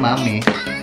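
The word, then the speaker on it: Mamee: Biasanya Mami. Bacanya Mami.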